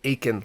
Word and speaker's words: Aiken: there's a lake called aiken lake like clay aiken spelled like that and uh you could